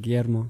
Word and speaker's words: Guillermo: And it's a childhood nickname that I've had because most of the people couldn't pronounce it Guillermo.